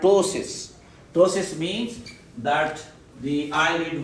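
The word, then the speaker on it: ptosis: having this is called tosis tosis means that the eyelid will close down again there is p is silent tosis tosis okay so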